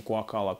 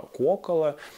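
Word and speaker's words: Куоккала: И, конечно же, не Куакала, а Куокала.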